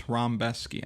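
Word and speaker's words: Rębecki: Matau Rambeski and it is Rambeski. I know how it looks, but that's that's how they pronounce it.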